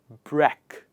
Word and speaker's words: breakfast: go about this one in the word break we have a separate word in english language and that is pronounced as break but that word does not have the same pronunciation in this word the break turns breck in this word so i'm